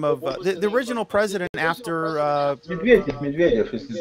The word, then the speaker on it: Medvedev: How do you pronounce it? Medvedev. Yeah, Medvedev.